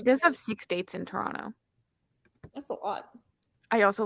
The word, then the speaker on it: Toronto: we're pretty close the the t is silent technically it's like people say Toronto like Toronto the way